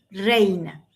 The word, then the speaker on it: reina: estudiante ya puede decir reina, porque además ahí se junta la R, que es de difícil de pronunciación para los extranjeros.